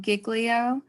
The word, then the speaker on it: giglio: So I wanted to take a second and talk about giglio, which Professor Cook very much informed me that is the correct pronunciation, regardless of what anyone else says.